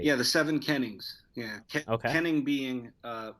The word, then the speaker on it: Kennings: uh I believe it's called the the seven Cannon canning's Trilogy I'm not sure if I'm pronouncing it right yeah the seven Kennings yeah okay Kenny being uh an Old English